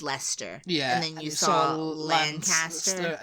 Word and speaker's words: Leicester: you had been told oh no it's not Lecter it's Lester and then you saw